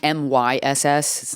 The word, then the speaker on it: Myss: It's Caroline Myss. It's spelled how it's pronounced.